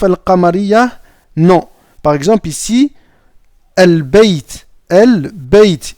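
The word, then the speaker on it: البيت: Par exemple ici, al-bayt. Al-bayt. Ici, on va prononcer le lam ici.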